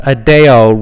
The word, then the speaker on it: Addeo: Addeo, that's fine.